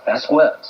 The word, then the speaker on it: Vasquez: I go, how do you pronounce it? Vasquez. Okay, that's how we'll pronounce it.